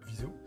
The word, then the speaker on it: Viseu: Ça s'écrit Viseu. Mais ça, Viseu.